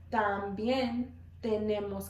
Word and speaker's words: también: También tenemos. También tenemos. One more time. También tenemos. So our T's, remember, our tongue is going to be between our teeth when we're pronouncing our T's.